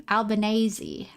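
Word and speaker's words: Albanese: How did they say your name? Albanazi. Albanazi. I'm going to say it like that now.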